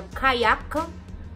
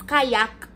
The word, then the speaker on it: Kayak: ticket prices on a Kayak, K-A-Y-A-K. It's a Kayak. I think it's Kayak. I used to pronounce it Kaya. I didn't even realize that it's K. K was at the end.